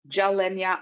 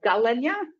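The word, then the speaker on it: Gilenya: one and five so it's either pronounced jalenya or galenya depending on who you're asking and it's a daily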